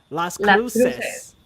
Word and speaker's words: Las Cruces: Las Cruces.